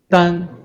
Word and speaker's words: 眈: So the third one, 单, this one, 单, Chinese pinyin, 单.